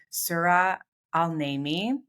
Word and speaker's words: Sura Al-Naimi: And my guest today is the amazing Sura Al-Naimi, right?